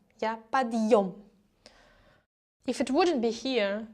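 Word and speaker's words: подъём: That means that this de should be pronounced hard, so it's подъем. Yeah, подъем.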